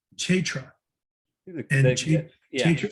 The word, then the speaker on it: Kshetra: As stated before, Kestra is the field of activities, and there are two kinds of Kestranya. It's actually pronounced Kshetra. Kshetra.